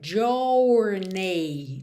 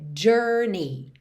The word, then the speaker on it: journey: ou na primeira sílaba é y na segunda sílaba Mas você não vai realmente desenhar essas letras tá então você não vai dizer jorney tá é Journey Journey Journey então on the first hour of